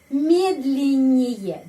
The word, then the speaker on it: медленнее: Медленнее. Di sini Y dapat penekanan. Karena itu Y bacanya E.